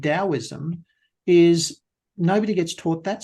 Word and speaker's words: Taoism: Now, that is spelt Taoism, the Tao, Tao, but it's spelt, the T is pronounced with a D. And so Taoism is something that I've studied in great detail.